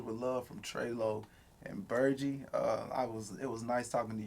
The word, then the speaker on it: Burgy: It's not Burgy, it's Burgy.